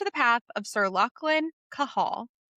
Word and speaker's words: Cahal: path of Sir Lachlan Cahal, not Cathol as I have been pronouncing it up until Kate just read me the pronunciation guide.